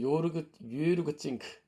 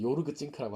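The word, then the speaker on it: Jörg Zink: 그 다음에 유르그 찡크 발음이 이제 독일 사람은 유르그 찡크라고 해야 되는데 이제 한국에서는 요르그 찡크라고 하더라고요.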